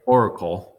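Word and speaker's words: auricle: that's the ear flap also known as their rickle all right Oracle that's how you pronounce that that is used to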